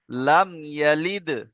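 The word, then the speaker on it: لَمْ يَلِدْ: দেখেন, এখানে আছে লাম মিম জাবার লাম। লাম মিম জাবার কি হবে? লাম। তারপরে কি আছে? ইয়া জাবার ইয়া, তাহলে কি হবে? লাম ইয়া। লাম দালজের লিদ, তাই না? তাহলে কি হবে? লাম ইয়ালিদ। সবাই বলেন লাম ইয়ালিদ।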